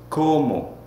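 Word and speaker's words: cómo: here is how well how in spanish is como look after me como c-o-m-o with the accent on the first o you have to make it last a little bit longer as you say it okay all right i have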